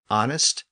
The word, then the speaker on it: honest: then ultimately into English so as a general rule when we encounter a word with a silent h we're usually looking at a French lone word that includes words like honor honest our h o r